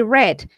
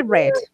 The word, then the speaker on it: read: Remember, is I read, porque ese está en pasado y la pronunciación I, cambia aunque se vea igual. I read I in a read website.